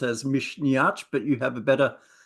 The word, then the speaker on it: Misneach: Irish uh music festival which I pronounce as Mish but you have a better pronunciation yeah Mish is the Irish word for courage so Mish yeah yeah and this is the first time